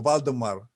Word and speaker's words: Vladimir: It's pronounced Vladimir, isn't it? Vladimir? Yes, exactly. Okay. In Slavic form, Vladimir, but in you can say also Vladimir or Valdemar.